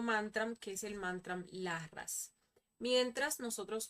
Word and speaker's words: Larras: Vamos a pasar al segundo mantra, que es el mantra Larras. Mientras nosotros pronunciamos este mantra, vamos a imaginar una luz de color morado, color pues violeta en nuestro entrecejo, ¿sí?